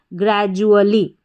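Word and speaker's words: gradually: इस डी यू को ज करके पढ़ा जा रहा है। इसका कोई रूल नहीं है। आप याद रखें। काफी सारी स्पेलिंग्स में रिपीट भी होता है। तो ग्र जु और अली।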